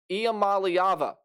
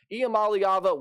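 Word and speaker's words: Iamaleava: for Tennesse in 2024 Nico IAM malava that is how you pronounce that last name and if I'm wrong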